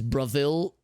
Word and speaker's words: Bravil: of f anvil is bravil pronounced like brazil with the v i remember lmx in